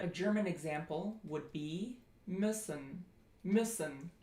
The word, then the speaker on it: müssen: German example would be müssen, müssen. And that is pronounced if you just take I and then you round your lips. I, Ö, müssen.